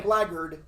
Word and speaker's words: blackguard: Blackguard. Yeah, that's I it.